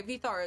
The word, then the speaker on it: Vidar: Vidar. Okay, Vithar is one of the ways of pronouncing it.